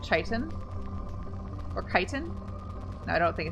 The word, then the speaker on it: chitin: armor Titan I always read that word as chitton but I like from Skyrim but for the first time I was introduced to that word and then I looked up recently and it's actually pronounced like chitin or chitin I don't think it's now I